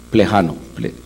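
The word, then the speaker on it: Плеханов: Plejano, así se pronuncia, que es el papel del individuo en la historia.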